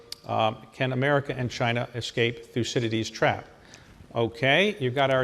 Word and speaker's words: Thucydides: Thucydides. What is the most interesting pronunciation you've heard?